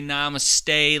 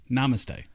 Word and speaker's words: namaste: i'm liking it very namaste like you didn't even say it right namaste i said namaste namaste nah look here